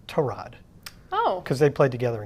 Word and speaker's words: Tyrod: So I don't think that having to go from Justin Fields to, I guess Baker Mayfield corrected us all, he actually pronounced his name Tyrod.